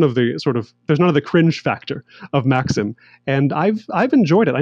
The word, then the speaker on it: Maxim: all that, people drank what's the brand called Maxim, or in the Korean pronunciation, Mikshim.